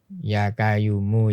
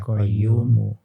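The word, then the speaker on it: يا قيوم: Padahal itu kan ya hayyu Ya ya qayyumu. Ya. Orang pelafalannya Jawa, yang iya. medok Jawa sehingga ya kayumu ya koyo.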